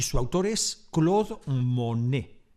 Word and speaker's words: Monet: Data de 1874 y su autor es Claude Monet, con una sola N, que aunque su apellido se pronuncia igual, no tiene ninguna relación con Jean Monnet, con dos Ns, que es el protagonista de mi intervención.